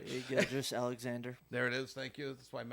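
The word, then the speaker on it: Gilgeous-Alexander: Gilgeous Alexander.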